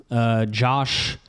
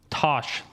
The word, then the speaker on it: Tosh: And they have a new head coach, Josh, how do you pronounce it? Josh Lepoy, who was the Oregon defensive coordinator from 2022. Tosh.